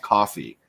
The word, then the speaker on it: Ko-fi: Yeah, Ko-Fi it's actually called coffee. You bought somebody a yeah, coffee. I think it is pronounced coffee.